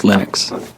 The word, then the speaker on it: Linux: Um, when I speak Swedish, it's Linus. When I speak Finnish, it's Linus. When I speak English, it's Linus. And I really don't care how people pronounce my name, but Linux is always Linux.